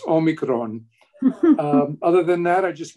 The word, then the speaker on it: omicron: and it is pronounced omicron you don't have to roll the r but it's all me like omeo mai and it's kron rhymes with drone omicron if you don't